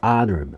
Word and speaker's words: honor: 자, H가 소리 나지 않습니다. 소리 나지 않습니다. H는 소리가 나지 않는다. H. 그래서 honor, honor 발음이. 그 다음에 명사로도 쓰이고요.